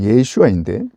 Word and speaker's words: 예슈아: 예슈아의 슈는 쉰이라는 발음에서 온 것인데 히브리어 예수아를 헬라어로 번역할 때 헬라어에는 쉰을 발음할 수 있는 말이 없기 때문에 쉰의 어려운 발음을 빼버리고 그냥 예수라고 발음한 것입니다.